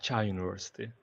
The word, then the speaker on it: Çağ Üniversitesi: Çağ Üniversitesi.